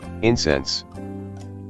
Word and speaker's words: incense: does to you gall it's spelled the same way as an aromatic substance you burn but with a different stress incense from latin for call